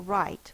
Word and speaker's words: write: right but I will write meaning I will put my writing utensil to the paper write r i r in this word is w r the W is silent I for right I